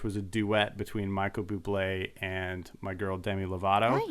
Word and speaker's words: Bublé: a duet between Michael Bublé and my girl Demi Lovato. Nice. It's pronounced bubbly.